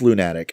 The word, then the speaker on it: Lunatic: the lunatic pandora yeah it's pronounced loon attic as in like Moon related I'm sorry if I